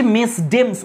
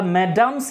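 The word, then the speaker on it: Mesdames: দেখে তো মনে হচ্ছে মেসডেমস উচ্চারণ হবে কিন্তু মেসডেমস উচ্চারণ করি না আমরা ম্যাডামস উচ্চারণ করি এটাকে ম্যাডাম ফ্রেঞ্চ এই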